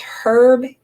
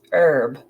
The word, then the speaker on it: herb: weird that I pronounce herb instead of herb I'm assuming that you're either pronouncing the H or not that's a British thing actually in Britain it's herb here it's herb very important information and